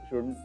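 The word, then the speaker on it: should: ओ यु एल डी एल डी म्हणजे एल असतो एल दिसतो पण तो म्हणायचा नसतो आई शपथ हेच आहे का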